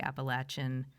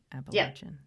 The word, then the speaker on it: Appalachian: Yeah, so let's hear some about how you see what it means to be Appalachian. Am I saying it right? Appalachian. Yeah, okay. You are.